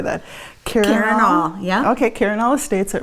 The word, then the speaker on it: Karinall: Karinall, yeah.